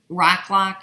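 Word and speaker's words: Roc-lon: Rock Lock makes a great muslin. That's the one I use all the time, and it's spelled ROCLOC.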